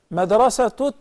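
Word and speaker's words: مدرسة: Madrasatu taqwa. Okay? Then we pronounce the ta as ta, or alha al marbuta as ta. When we stop on it, we say madrasa.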